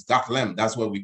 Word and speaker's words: Gotham: with howard sounds not it may look like got ham but it's goth lamp that's what we call